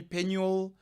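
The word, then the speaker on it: Penwill: don't know but um what I prefer is p e n w i l l pen will okay I prefer that pronunciation it's just a preference but you can call me penel penel it's fine but that's that's where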